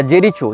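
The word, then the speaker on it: Jericho: Israel हो या फलस्तीन हो इसने जेरिको या जेरीचो जो भी इसका उच्चारण उन भाषा में किया जाता है जे ई आर आई सी एच ओ जेरीचो या जेरिको जहां तक जेरिको होना चाहिए उच्चारण यह फलस्तीन का प्रांत माना जाता रहा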